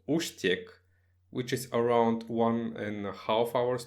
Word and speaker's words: Úštěk: I think it's Ustiek. Uštek, okay. Because they have one E with the hachek there.